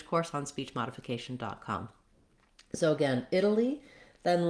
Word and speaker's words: Italy: So watch out that you don't become lax at the end of this word, not Italy or Italy, but Italy, with first syllable stress.